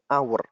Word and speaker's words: hour: An hour, H tidak dibaca, tetapi di situ bacanya hour.